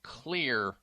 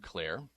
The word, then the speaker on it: Xlear: He is the CEO and founder of Xlear Inc., and Xlear is spelled with an X, X-L-E-A-R.